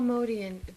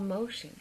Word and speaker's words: Motian: Paul Motian, M-O-T-I-A-N? Yeah, Paul, yeah, M-O-T-I-A-N is an Armenian name. The name that I'm thinking is Paul Motion.